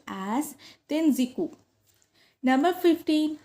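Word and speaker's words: Tenjiku: Number 14, Wu Yin term is used in Japan where it is pronounced as Tenziku.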